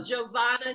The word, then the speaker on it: Giovanna: coach and healer yes her name is spelled more scarier than it actually says those like letters so Giovanna Tisdale and I am so